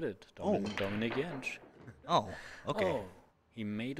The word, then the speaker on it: Dominik Jentsch: I'm not sure what's the correct pronunciation. You just said it, Dominik Jentsch.